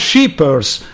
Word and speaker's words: Scheepers: What about what about RALF SCHEEPERS? Am I right with the pronunciation? RALF SCHEEPERS, that's great. Okay. Yeah, Scheepers, the double E is always in English, an E.